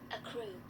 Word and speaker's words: accrue: and see how you how can you pronounce that let's see a crew a crew yes a crew a c a-c-c-r-u-e a crew this is how i can find out on my cell phone here see you type it up and then uh you press this audio here a crew a crew a crew a crew yeah that's how you say it a crew a c